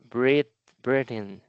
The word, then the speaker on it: Britain: So this actually is like Britain.